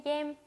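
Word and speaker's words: game: 쩌이 겜. 네, 게임을요 발음을 겜 이런 식으로 베트남식으로 발음을 해주시면 더 좋습니다. 자, 읽어볼게요. 쩌이 겜.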